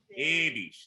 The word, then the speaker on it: ewig: Dass du ewig. That's ewig. Close A.